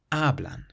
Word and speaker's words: hablan: So this word has 2 syllables. The syllable before last is actually the first syllable. So hablan, hablan.